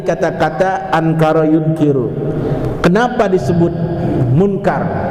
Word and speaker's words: Munkar: Kenapa disebut munkar? Bacanya munkar, pakai kapnya dipathain.